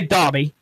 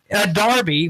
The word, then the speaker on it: Derby: not saying draw refuse I'm gonna say Dhabi that means Darby which is spelled Derby de RBY of course in England